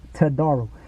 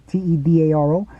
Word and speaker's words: Todaro: Tudaro or Todaro. That's how I would spell it. But no, he says his name is Dr. James Todaro. So when I first heard it, I didn't even look. I just thought it was Tedaro until I later found